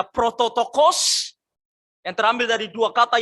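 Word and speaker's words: πρωτότοκος: Di situ ada cara membacanya prototokos.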